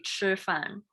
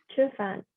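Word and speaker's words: 吃饭: But in Mandarin you say 吃饭. 吃饭. 2 syllables easier.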